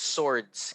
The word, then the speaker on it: swords: themselves very good okay the w by the way in swords is silent so it's swords can you say swords swords very good okay excellent